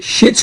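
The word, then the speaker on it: Schitt's: and my recommendation is a netflix series called shit's greek which by the way is spelled s-c-h-i-t-t-s it's a low-budget divinely acted heavily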